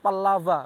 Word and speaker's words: Pallawa: masa kerajaan dinasti pallawa kalau di bahasa India disebut Pallapa begitu tapi ejaannya adalah Pallawa memakai huruf v Pallapa tapi ejaannya Pallawa seperti Dewa itu Dewa nah ternyata dinasti Pallawa